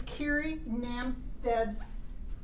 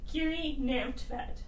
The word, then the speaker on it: Kiri Namstvedt: Kiri Namstvedt. Namstvedt. Yep. I forget the V part of it.